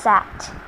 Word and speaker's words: CAGT: It's pronounced SAT.